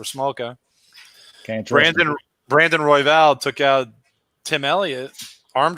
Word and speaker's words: Royval: Royval rhymes with Vidal.